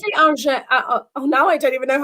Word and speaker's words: orgeat: And maybe a different style of orgeat, depending, maybe I want something less sweet.